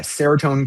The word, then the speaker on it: Seratone: And the device is called Seratone, is that how it's pronounced? Yeah, Seratone Karaoke.